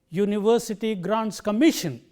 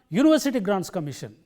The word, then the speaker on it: University Grants Commission: So, the right way of pronouncing this phrase is university grants commission.